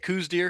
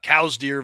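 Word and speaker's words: Coues deer: Coos deer? Because I there was like Yep, these arguments about cows deer versus coos deer going on a yep.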